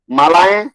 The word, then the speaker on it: मालाएं: माला का दिशाएं, मालाएं। मालाएं। ये मालाएं, मालाएं, किस तरह से, हाँ मालाएं, ए उच्चारण होगा, अंत में नहीं करेंगे तो गलत उच्चारण होगा।